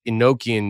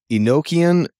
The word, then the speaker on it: Enochian: But I think it is pronounced Enochian, but then it's then the vowel O is short.